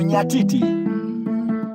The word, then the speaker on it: nyatiti: It's called nyatiti. Nyatiti is N-Y-A-T-I. Chad Fisher's on the vine. T-I, nyatiti. There's a Y there. Nyatiti. You can Google nyatiti, knows the spelling.